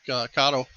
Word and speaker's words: Kato: Kind of like Kato or Kato, depending on how you want to pronounce it.